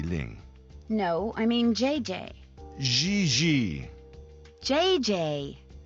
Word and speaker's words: JJ: No, I mean JJ. Gigi. JJ. En français, you pronounce G like J and J like G. She may very well be JJ in America, but in France, she is Gigi.